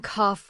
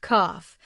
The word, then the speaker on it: cough: You're saying cough wrong. The word cough is actually pronounced cough with the gh making an f sound.